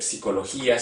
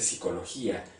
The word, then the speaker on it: psicología: Latinoamérica sucede ese fenómeno, que no se dice psicología, sino se dice psicología. Bueno, será por una cuestión lingüística a lo mejor, que se omite la P.